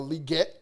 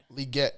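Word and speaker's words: Legette: in Xavier uh liette because that's how he said you pronounce it so I'm going to try my best cool whatever liette that's what he said that's what he said in the opening press conference so yes sir yes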